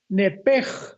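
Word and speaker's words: נפש: con N de Nancy, nepesh. Pero la SH en el hebreo se pronuncia como J. Entonces se pronuncia nepej con la J al final.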